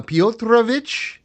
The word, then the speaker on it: Piotrowicz: Uh, Potravich. That is the proper Polish pronunciation.